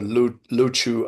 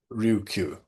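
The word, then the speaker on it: Ryukyu: Appendix four, notes taken during a visit to Okinawa, the island of Okinawa, the Luchu Islands or that's just another way of saying Ryuku before they were able to pronounce it properly.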